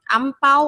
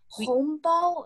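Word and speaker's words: 红包: money, and so it's hongbao. They actually pronounce like this in China. Oh, hongbao. Yeah. Hongbao. And this is Mandarin, I guess. Yeah. Mandarin. In the Philippines, we say ampao or angpao.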